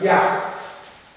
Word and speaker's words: ях: Мантра звучит как, она есть в моей второй книжке, она звучит как ях. Ях. Ха на конце.